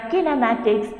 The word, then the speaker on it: kinematics: as the kinematics so what is kinematics correct pronunciation kinematics so what is kinematic cylindrical kinematics it is